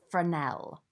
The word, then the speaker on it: fresnel: similar but not quite the same as the fernell it looks like fresnel but it's pronounced for an L so that's used for a slightly softer edge